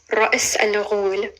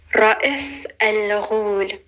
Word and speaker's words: Ra's al Ghul: One of the people who first responded to that post actually asked me if I would teach them how to pronounce Ra'is al-Ghul. Ra'is al-Ghul.